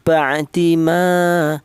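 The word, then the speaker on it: بَعْدِ: Maka cara bacanya dibaca jelas. Ba'i, jelas bagaimana? Jelas bahwa huruf tersebut ee huruf ain ini keluarnya berasal dari tengah tenggorokan.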